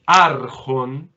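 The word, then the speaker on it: ἄρχων: Y arjon, atención, es barítono. Tiene el acento en la penúltima.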